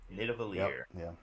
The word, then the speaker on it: Nidavellir: I'm gonna let you try to pronounce this one because I have no clue. No problem. Number 6 is Nidavellir. Sure. Nidavellir.